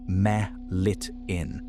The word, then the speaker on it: melittin: The venom is called apitoxin and its dominant ingredient is a peptide named melittin, pronounced meh-lit-in, which makes up somewhere around half to 60% of the dry weight.